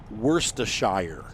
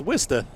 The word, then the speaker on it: Worcester: States Everest they have the city there's a it's spelled worse to Shire and you're like hey so how do you